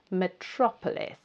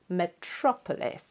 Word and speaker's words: metropolis: It's quite a long word, and it's the second syllable that you need to stress. So the second syllable is the loudest and the strongest. Metropolis. Metropolis.